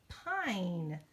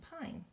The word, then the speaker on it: pine: take that one and add the silent e to it and now instead of pen it becomes pine it says its name pine okay let's do a